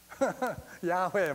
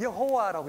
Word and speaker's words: 야훼: 옛날에는 우리가 여호와라고 했죠. 이제 요즘 번역된 어떤 번역 보면 야훼라고 많이 이렇게 되어 있어요. 야훼. 그런데 신학자들이 볼 것 같으면은 여호와보다는 야훼가 더 정확한 그런 발음이다라고 그렇게들 해요.